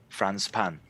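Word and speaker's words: フランスパン: Franz pan. Really? Franz, like French, pan like, for bread? Yeah. Franz pan. And pan is the French word for bread. Yeah, yes, Franz pan.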